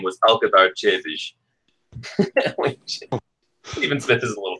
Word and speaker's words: Przybysz: Yes, my real name is, or my birth name was Alcazar Chevish. Stephen Smith is a little better. Incidentally, that last name right there, Chevish, that's an actual Polish last name.